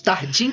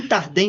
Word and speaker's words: Tardin: sobre essa essa essa questão que envolve os tardim tardé ou tardan Ah tá bom porque eu sou tardim ele é Paulo tardin aí como a portugues AD né tardin mas tem essa pronúncia e e a gente